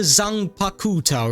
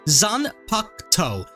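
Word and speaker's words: Zanpakutō: It's called the I called it the Zang Pakuto, right? But apparently it's called the Zanakto. At least I I think that's how you say it now. Zan Pakto. You basically the U over here silent.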